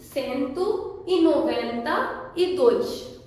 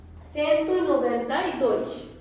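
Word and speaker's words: cento e noventa e dois: सो 192 सेंतु ई नोवेंता ई दोइश। सेंतु यानी 100, नोवेंता यानी 90, दोइश यानी 2। सेंतु ई नोवेंता ई दोइश।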